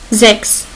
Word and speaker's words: Sechs: On a ici CHS. Il se prononce X. On va voir un exemple. Sechs. C'est 6.